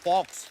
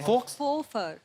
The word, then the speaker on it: faux: एक्स को pronounce ही नहीं करते। फॉक्स, Fofer. फोफा। तो एक्स नाम नहीं लेना उसका, ना, साइलेंट है वो।